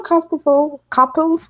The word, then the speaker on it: Copil: Is it Copil? Copil, just Letters. I don't know where she got this extra S or whatever. Did I add an extra I in there? Copil. You got extra syllable altogether.